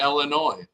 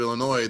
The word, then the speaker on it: Illinois: about the state of Illinois the S is silent now how annoying is